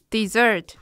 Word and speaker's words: desert: 当动词时，它读作 dessert，就跟点心的发音一样，但是它